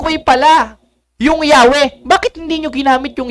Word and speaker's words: Yahweh: The more correct way is Yahwe than Jehova.